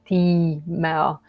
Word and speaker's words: Timea: like an I, but you kind of have like a long stripe over it, which kind of suggests that you should pronounce it like Timea.